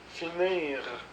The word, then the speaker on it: finir: verbe du deuxème groupe finir donc on prononce le r grandir choisir grossir donc